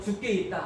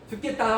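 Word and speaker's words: 주께 있다: 우리 서로 죽게 있다 함께 말합니다. 죽게 있다. 아멘. 발음을 잘해야 됩니다. 발음을 죽겠다 하면 안 됩니다.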